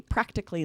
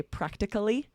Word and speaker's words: practically: We usually will pronounce these as 3 syllables. Practically is the first one. My son's friend is here so often, he practically lives here.